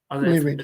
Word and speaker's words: Lyrid: Is that how you pronounce it? The Lyrid? Lyrid, yeah.